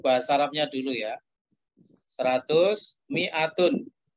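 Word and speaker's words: مائة: 100 mi'atun. Tulisannya memang mimnya itu panjang tapi bacanya tetap pendek saja. Mi'atun, bukan mi'atun.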